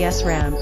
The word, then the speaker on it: SRAM: milliseconds to retain data SRAM pronounced esram is made up of